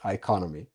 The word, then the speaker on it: Iconomi: for having me the the correct name is iconomy wonderful so if we start off really easy